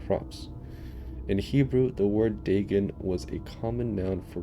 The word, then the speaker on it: Dagon: So it's pronounced Dagon. Dagon.